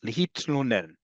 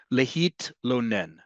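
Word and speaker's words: להתלונן: We don't have TL, the equivalent of TL with no vowel in between. Hebrew does. Lehitlonen.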